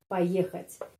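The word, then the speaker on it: поехать: Poyekhat. Di sini kita memiliki awalan "po," yang kita tulis sebagai "po" tetapi diucapkan sebagai "pa" karena penekanannya ada pada huruf "e," jadi pengucapannya adalah "poyekhat."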